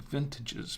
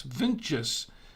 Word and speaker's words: VINTJS: It can sound like vintages, but it's VINTJS.